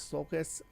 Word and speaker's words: sulcus: to say here first i've changed the way that i'm pronouncing this sulcus uh because after reading the the root words that they're saying that the author here is saying i'm gonna go with a hard c on that um because it looks